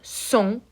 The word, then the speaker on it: sont: Il or elle, sont, the final T is silent, and the N is nasally.